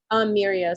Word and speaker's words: Miiriya: It's called Miria. I use that as well. Say the name again if you don't mind. Miria. So it's Miiriya. Okay.